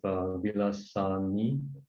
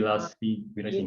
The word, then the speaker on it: Vilasini: And then we have Vilasani. Am I pronouncing the name? Can you guide me? You Vilasini. can just call me Vila. It's actually Vilasini.